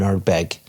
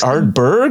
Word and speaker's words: Ardbeg: this, he's the global ambassador for Glenmorangie and Ardbeg. Among so many other things. Or is it this? Oh dear. Is it Ardbeg? Ardbeg.